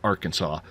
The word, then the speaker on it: Arkansas: I don't understand how you don't pronounce the S in Arkansas at the end he's from Arkansas so